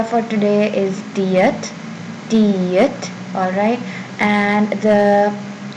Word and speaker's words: 티읕: Our letter for today is Tiyat. Tiyat. Alright. And the pronunciation in English, it's almost a T sound, almost, but not entirely.